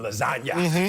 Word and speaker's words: lasagna: The G is silent, you know, in lasagna, you know.